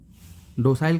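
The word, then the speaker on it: docile: डोसाइल का meaning जान लेते हैं। विनम्र, डोसल होता है वैसे, इसका प्रोनाउंसिएशन होता है डोसल।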